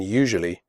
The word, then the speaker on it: usually: picture adventure future nature usually the first you in usually is pronounced like the word you the S is pronounced like a jerk in television usually tough the word tough